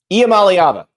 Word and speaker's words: Iamaleava: like the answers from Nico and yes the pronunciation thing IAM malava IAM malava IAM malava iam malava ala hold